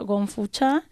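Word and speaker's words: 功夫茶: más difundida se llama Gongfu-cha. Confucha. Confucha, Si sí, la la pronunciación es pronunciación. Kung Fu. Exacto. Kung Fu como suena igual que el arte marcial, y Cha, que significa té.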